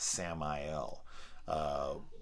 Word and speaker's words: Samael: He specifically states it like, no, it's pronounced Samael, which I looked up, and that is one of the angels of death.